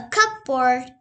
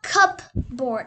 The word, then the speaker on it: cupboard: our room there is also a table a cup board and a bookshelf you know this is not cup board it's cupboard many people pronounce it wrong but you have to pronounce